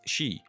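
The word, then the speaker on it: 四: unlucky because it is sometimes pronounced as she which is the word for death in japanese or something else we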